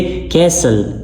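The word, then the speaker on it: castle: कैसल कैसल T silent है यहां पे।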